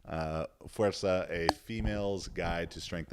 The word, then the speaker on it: Fuerza: That's the proper pronunciation. Fuerza, a female's guide to strength and physique.